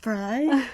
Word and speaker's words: Hilary Frey: It's pronounced Frey.